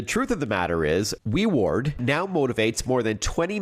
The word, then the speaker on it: WeWard: He's the CEO of WeWard, which is spelled w e w a r d, kind of like reward but WeWard.